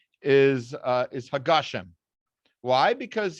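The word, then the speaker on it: הַגָּשֶׁם: pronunciation is uh is hagashem why because he said it's the end of the sentence so you put a period and then you you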